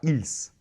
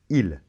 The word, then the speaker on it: ils: on ne dit pas il s' il on ne prononce pas le s de la fin est elle donc je